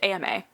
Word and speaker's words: Emma: She said he always pronounced it like Emma, but it's AMA.